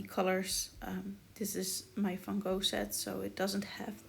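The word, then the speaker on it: Van Gogh: have that many colors or if i can just say my phone set because i'm dutch so why would i pronounce it in the english way you see me trying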